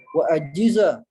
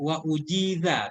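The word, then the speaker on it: وأجيز: ashirati pada umur ke-10 wa ajiza, dan Ini bacanya Ustadz wa ujiza bina majhul.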